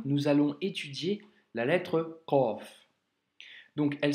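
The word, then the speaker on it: قاف: Le Qaf, c'est une lettre, comme tu peux l'entendre, emphasée. Donc, c'est une lettre emphatique, elle doit remplir toute la bouche quand tu la prononces, et il ne faut du coup surtout pas la confondre avec le kef, tu vois.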